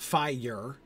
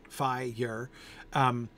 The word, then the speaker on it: fire: It is at least a slightly peculiar monosyllable, fire. The R, I blame the R. I disagree with you. I'm not doing it two syllables. And here's why. An R makes you like turn a corner, right? It's the same thing I was hearing in every wood, every spring. Every is still a two-syllable word. But that R, man, like, it takes a while to get around that R.